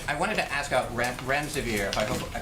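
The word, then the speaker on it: remdesivir: you so much I wanted to ask out rent rent severe if I pronounced that correctly can you tell saves it currently approved for use on the virus so REM des aveer and it's a drug made by Gilead that's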